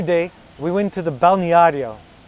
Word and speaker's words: balneário: Another day, we went to the balneario.